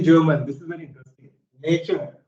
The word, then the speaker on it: Natur: Same way, in German language, you will be pronounced as oo. So it is Natur.